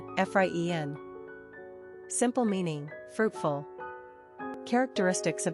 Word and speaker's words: Efraín: Pronunciation, Efraín.